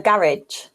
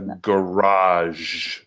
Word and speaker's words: garage: A garage. No, it's not. It's a garage. Garage. Yeah, I say garage. To me, garage sounds like a French word. You know, like I'm pronouncing it like French, like a garage.